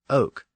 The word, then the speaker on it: oc: eventually became we and in the South the word for yes was pronounced Oak so those dialects became known as the ladoke literally the languages of Oak the word Oak also produced another name